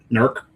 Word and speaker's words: Newark: Nerk, East Norc, right? Yeah, it's one syllable.